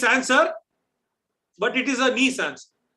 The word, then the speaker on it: Nice: after a european city often people mispronounce it assuming it to be named after a common adjective which biscuit made by